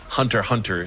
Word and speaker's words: Hunter x Hunter: watching and don't know the X is silent Hunter hunter is technically the name